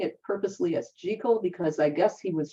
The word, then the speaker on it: Jekyll: and Mr Hyde I'm saying it purposely as jico because I guess he was from Edinburgh Scotland Robert Louis Stevenson was also Scottish and the correct pronunciation up in them Parts is jico so anyway he wrote his judical and hide